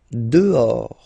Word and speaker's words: dehors: Dehors. Okay, so remember final S not pronounced, and then this H in French doesn't exist phonetically, so you don't pronounce it. Dehors.